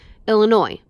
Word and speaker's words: Illinois: Yes, my name is Illinois, and I need a 1 airline ticket to, Illinois. No, the S is silent.